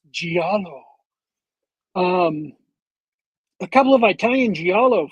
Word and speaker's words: giallo: I think it's pronounced giallo.